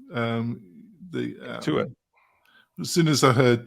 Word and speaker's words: Intuit: But as soon as they sold to, how do you pronounce it? Intuitive. Intuit.